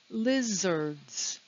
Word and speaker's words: lizards: have the word lizards lizards it's two syllables the stress is on the first syllable notice that we don't hear the letter a lizards and the last